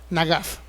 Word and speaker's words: nagas: castigaré por favor léala es la palabra hebrea nagas na G AF bueno escritas yo creo es la manera en que se pronuncia no nagas es una palabra a